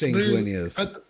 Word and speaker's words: Sanguinius: And then the 11th Legion, Blood Angels, led by Sanguinius. I mean, the dead guy. Wait, Blood Angels are led by who? Bro, don't say his name again. It's Sanguinius.